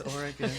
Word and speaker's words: Oregon: it's Oregon.